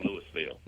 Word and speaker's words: Louisville: Down here we use all the letters in the South, and we say it right here in Louisville.